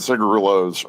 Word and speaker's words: cigarillo: But we Americans call those cigarillos, and cigarillos are tiny little cigars. They're like about that big. Those are your quick, 10-minute smokes. The cigarillo or cigarillo, if you were pronouncing it with Spanish inflection.